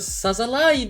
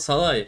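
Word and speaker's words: Szalai: Attila Salahi Salahi Salahi Atilla Salahi Sali. Evet Z'yi çıkarmamız lazım orada. Mantıklı z Salahi kafa vuruşta kaleci Ersin desa bak topu çelmeyi başardı hocam.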